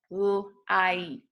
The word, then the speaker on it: light: So for example, in the word light, light, you really don't hear the G and the H, okay?